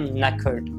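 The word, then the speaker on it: knackered: सबसे पहले न को थोड़ा सा राइमिंग बोलिए, उसके बाद में खर्ट, नेकर्ड, नेकर्ड, नेकर्ड, नेकर्ड,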